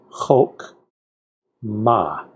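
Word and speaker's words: חָכְמָה: for an itty-bitty vowel which means the two sounds this can make a or o short oh it can only be the short o so it has to be Hulk ma and here we have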